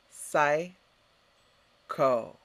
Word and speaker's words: psycho: mind or the soul excellent next psycho repeat sai ko what does it mean generally speaking we use